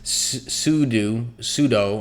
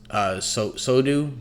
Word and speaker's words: sudo: It's this sudo. I never say that right. I think it's actually pronounced sodu, but I always say it wrong.